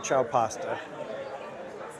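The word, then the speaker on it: Ciao Pasta: It's called Chowo Pasta pronounc it's spelled the you know Italian hello ciao. So it's C I AO pasta in cap San Juan Capistrano.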